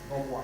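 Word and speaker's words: nnoboa: And when we take the understanding to be in our villages, what we normally call Nobwa. I don't know whether the others, how they pronounce it, but in Akan it is Nobwa.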